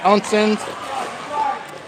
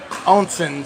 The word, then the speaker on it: Oncins: Oncins and Milner. No, I was going to do color commentary, but they got somebody. Is it pronounced Oncin? Oncins. Oncin and Milner.